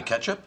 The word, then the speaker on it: catsup: Douglas, would you please pass the catsup? The what? The catsup. You mean the ketchup? Educated people pronounce it catsup.